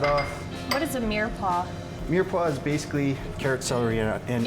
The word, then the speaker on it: mirepoix: Mirepoix is basically carrot, celery, and onions. Oh, and I totally butchered that name.